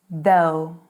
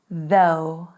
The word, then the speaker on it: though: It is though. Though. It was hard though. Though. And one more, the trickiest. How to pronounce this one?